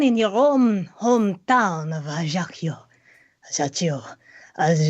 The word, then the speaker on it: Ajaccio: Henri Baptiste Borel, born in your own hometown of Ajaccio. Ajaccio, as it's something. I have known you. Adagio.